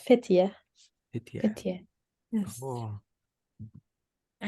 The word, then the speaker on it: Fethiye: How do you pronounce that, Ume? It's Fethiye.